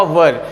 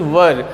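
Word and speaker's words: were: रूप में वाज अथवा वर मैंने हिंदी में लिख दिया है। इसका बहुत सारे लोग गलत प्रोनाउंसिएशन करते हैं, गलत उच्चारण करते हैं, इसको वेयर बोलते हैं। ऐसा नहीं होता, दिस इज़ वर।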